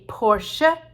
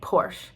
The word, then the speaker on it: Porsche: fancy car from germany called a porsche in german because they pronounced the final e's but here we just say porsche because that's enough we